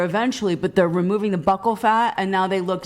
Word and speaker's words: buccal: Hold on, buccal. I don't know how to pronounce buckle fat removal.